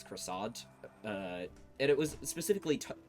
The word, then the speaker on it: croissant: um but the argument over how to pronounce croissant uh and it was specifically taking aim at Americans and it was like it's Quant it's not you know like and I'm like